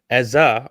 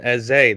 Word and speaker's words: Eze: TNT's commentator saying Eza rather than Eze.